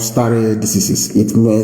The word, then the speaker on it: stare decisis: It is called stare decisis. I will spell it for you.